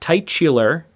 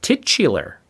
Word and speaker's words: titular: people go uh hey it's not tight Chiller it's titular which is weird because